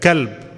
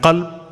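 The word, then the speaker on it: قلب: If you're changing the harf from qaf to kaf, or kaf to qaf, it's changing the meaning. Like kalb, what does kalb mean? Dog. And qalb, heart. So it's a big difference.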